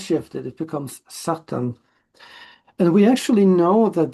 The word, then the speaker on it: Satan: The reason for that is that in Hebrew it's Satan with the stress at the end. But in English when the stress shifted it becomes satan.